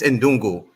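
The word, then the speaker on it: ndugu: he's trying to say in dungu which is a swally Healy word for brother he doesn't know how to pronounce it it's in dungu it's a Swahili word for brother that's his name you're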